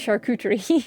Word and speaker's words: charcuterie: It's pronounced charcuterie.